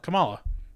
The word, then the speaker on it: Kamala: modoc in the car kamala kamala com compala kamala that's how you say it kamala khan right